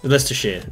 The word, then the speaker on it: Leicestershire: Leicestershire. Or Leicestershire. Leicestershire. Depends on... No, it's Leicestershire. Leicestershire. Is that But correct? it looks like it's spelled Leicestershire.